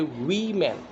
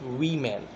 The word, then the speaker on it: women: When it comes to the plural form, we say women. It's not woman. Okay, it's women. The pronunciation is women.